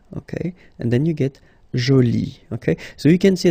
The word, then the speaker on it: joli: Okay, so you can see that you put this e, but then you don't pronounce it. Okay, so it's joli. So basically the two adjectives, masculine joli and feminine jolie, are pronounced the same way.